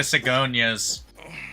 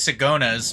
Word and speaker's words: Sigona's: Well, this was at a Sigonia's, which properly pronounced is Sigona's, but fuck you.